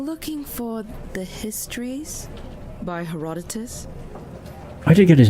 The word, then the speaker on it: Herodotus: I'm looking for The Histories by Herodotus. I did get his name right. Hell yeah. Goodness. In terms of Herodotus.